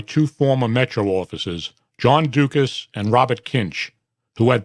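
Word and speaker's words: Ducas: In May 2018, Tobiason was contacted by two former Metro officers, John Dukas and Robert Kinch, who had both terminated their employment with Metro under negative terms.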